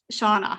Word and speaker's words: Shana: I think I'll imagine it spelled Shawana, even though I know it's spelled that way. Other way. Yeah. So Shana.